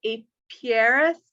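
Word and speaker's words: apiarist: unless you're Annie or AP piarist is that how you say it yeah spot on Beth I'm impressed I can't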